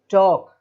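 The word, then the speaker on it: talk: तो वो साइलेंट रहेगा, तो यहाँ पर भी के पहले एल आ रहा है, तो टॉक बात करना।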